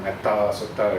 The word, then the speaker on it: Metta Sutta: So here the shortness of the vowel is due to the compound. So actually it's supposed to be Metta Sutta combined, so the long vowel became short. So technically it's still correct to pronounce it Metta Sutta if you like, but somehow we get so used to the idea of spelling it with short A, and then it has